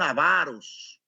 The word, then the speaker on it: avaros: Mire, mienten, crean discordia, crean conflictos, crean situaciones enojosas, son avaros. Avaros. Si usted dice ávaro, sígalo diciendo usted, pero yo digo la pronunciación que que he leído.